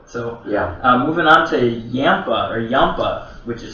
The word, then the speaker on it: Yampa: might love it so yeah moving on to yampa or yampa which is spelled y-a-m-p-a um this one was a variety